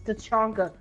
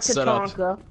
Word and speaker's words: Tachanka: It's Tachanka, not Tatanka.